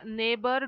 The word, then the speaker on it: neighbor: K is silent then here neighbor daughter fight and straight here g is silent Okay g is silent